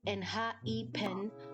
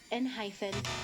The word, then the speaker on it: ENHYPEN: It is spelled with a hyphen, pronounced N-H-E-Pen, not N-hyphen, not N-pen, not whatever your cousin just said.